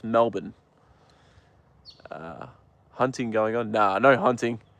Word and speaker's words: Melbourne: Melbourne, but it's pronounced Melbourne.